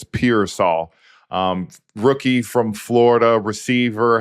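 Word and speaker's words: Pearsall: wanted to say his last name correctly it's piol um rookie from Florida receiver had High Hopes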